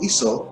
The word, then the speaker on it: Isa: It would be pronounced Isa, and in the Quran it's shown as Isa alayhi salatu wasalam.